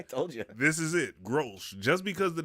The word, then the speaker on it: Grolsch: How do you pronounce this beer before we go into Severance? Grolsch. This is the whitest beer I've ever drunk. I told you. This is it, Grolsch.